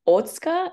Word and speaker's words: Otsuka: My pronunciation probably is not great, but it's Otsuka is the correct Japanese pronunciation.